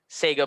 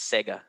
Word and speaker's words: Sega: sure you are um sega by the way is the more american way to say it but it's sega that's right okay i